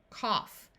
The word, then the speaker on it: cough: a to caught daughter there are a few words where GH has the sound of F in these words the o u will have a short u sound so we have rough Tough Enough in this word we have a short o sound cough in these words